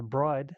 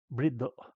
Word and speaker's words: Bride: about us calling them brie seats. Um, the main reason we did that is because bride is not the correct pronunciation. In Japan, they pronounce it briddo.